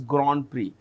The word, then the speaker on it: Grand Prix: Which Formula 1 driver won the 2025 Chinese Grand Prix? We pronounce it as GR.